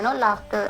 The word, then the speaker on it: laughter: So even laughter. So they will not say laughter. That E-E-R is there, laughter. L-A-U-G-A-C-E-R. Spelling is laughter. So they will not say laughter. They will say laughter. the R is silent there.